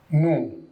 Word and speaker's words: nous: Like here I use nous. Nous means we. S is silent here.